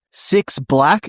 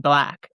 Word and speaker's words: 6LACK: It's so funny cuz he's like got that on like shirts and stuff that it's like it's pronounced black. It's just black.